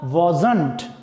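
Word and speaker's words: wasn't: अगला देखिए वॉज not, short form है इसका वॉजंट। क्या उच्चारण होगा इसका, वॉजंट।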